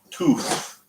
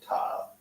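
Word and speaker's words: ת: line that he's using, it's Tuf, T-U-F, is how they pronounce it. Okay, if you go to the other side, they pronounce it Tab. It's neither way is right or wrong.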